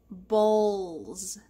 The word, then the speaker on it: bowls: talk about it bowls notice the w is silent bowls big plates little plates